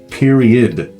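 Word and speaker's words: periodt: to the point period I just say period I don't say the T at the end but what the t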